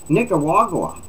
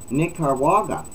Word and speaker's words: Nicaragua: came from various countries such as Cuba Nigeria Nicaragua yeah it's n-i-c-a-r-a-g-u-a Nick carwaga wagwa I can't even pronounce that Nicaragua but I haven't looked at